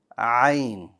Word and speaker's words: ع: If you hold the air at the location of the Ha, you will get an Ayn sound. So instead of saying Ah, Ayn, Ayn.